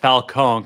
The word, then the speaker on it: Falcone: Falconee, Kam Matt, I thought you were Italian. It's pronounced fal cone, like an ice cream cone.